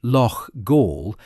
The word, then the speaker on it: Loughgall: The comment asks the reader to feel nothing for eight IRA volunteers who died in the village of Lo Gaul, pronounced Lo Gaul in County Armar on the evening of Friday 8th May 1987.